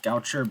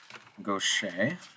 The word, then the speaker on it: Gaucher: goet disease I know it looks like it's pronounced Goucher but it's pronounced goet all right so what is going on in